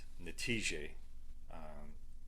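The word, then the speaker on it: نتيجة: The next word, result, is pronounced natije in Arabic. So natije.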